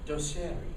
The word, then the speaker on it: Doceri: like I was really it's spelled like the Italian word that it is d-o-c-e-r-i dosier my Italian's not good